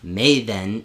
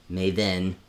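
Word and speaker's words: Meven: And just remember, technically Mavon is M-E-V-O-N. Maven is M-E-V-E-N. Maven, Mavon. So they're not spelled the same.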